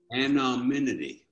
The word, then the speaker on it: anonymity: have an a minute and an immediate okay pronounce it for me anonymous or anonymity anonymity that's it so so that's one of the